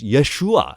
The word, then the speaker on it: Yeshua: I know this because Jesus wasn't named Jesus Jesus is a transliteration into English of what was already a Greek translation Yus from a Hebrew set of syllables Yeshua right salvation essentially is